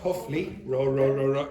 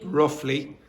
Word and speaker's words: roughly: Not huffly. How do you pronounce that? Roughly.